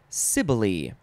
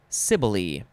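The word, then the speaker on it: Cybele: we're changing courses here this word is pronounced sibylie it is spelled capital c-y-b-e-l-e cibolee noun from 1576 a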